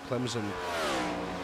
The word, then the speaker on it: Clemson: places and right now Clemson for some reason they put a z instead of an s in there it's very strange to